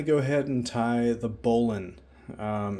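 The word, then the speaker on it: bowline: ahead and tie the Bolan um it's spelled bow line but it's pronounced Bolan um this is an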